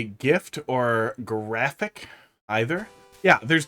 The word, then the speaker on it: GIF: was that like a gif that is how it's pronounced by the way like giraffe and gel you don't say gel or GFF all trolls now on